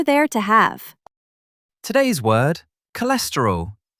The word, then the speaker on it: cholesterol: Today's word, cholesterol. 4 syllables. K, less, t, roll. Stress on the second syllable. K, less, t, roll. Say it with me.